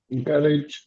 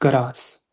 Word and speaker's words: garage: garage, नो, इट्स गरास। gar- ठीक है, इट्स गरास।